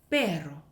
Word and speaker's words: perro: 얘 어떻게 읽냐면요, 페로. 한번 더, 페로, 페로, 페로 하시면 돼요.